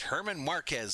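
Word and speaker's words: Germán Márquez: It's pronounced Herman Marquez, says Julian Cruz.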